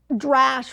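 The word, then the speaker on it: דרש: third level which is a dash rhymes with midrash which you get a lot of the mid rashes and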